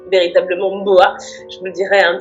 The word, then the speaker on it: Ohmboa: Je l'ai écrit Omboa, mais ça se prononce véritablement Mboa.